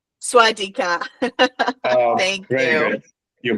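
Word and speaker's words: สวัสดีค่ะ: Being a girl, you need to say Swadika. Swadika.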